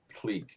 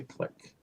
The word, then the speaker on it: clique: It's an interesting word, clique, because actually I grew up with saying clique, but a lot of people say click.